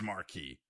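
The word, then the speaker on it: Markey: denouncing those statements today from Senator Ed Mary rhymes with bis Marquee who oddly enough had a song called what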